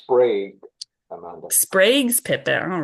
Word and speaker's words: Sprague: pronounced Sprague, Amanda.